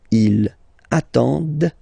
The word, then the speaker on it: attendent: And the last one, same thing, classic ending for il, elle at the plural form, ENT, but then you don't pronounce them. Ils attendent, okay, so remember you get to pronounce this, d at the end, okay. Elles attendent, all right. If you make the link, ils attendent, elles attendent, okay.